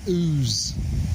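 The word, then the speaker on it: Ouse: the sound of the river ooze for clarity it's spelled o-u-s-e rather than the other less romantic way it's an ancient ain't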